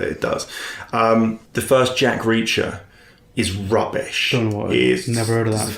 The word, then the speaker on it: Jack Reacher: haven't seen Jack Reacher my dad can't pronounce Jack Reacher for for weeks he kept saying to me I really I really want to see that Jack Treacher I'm like there's no such film as Jack Treacher what the [ __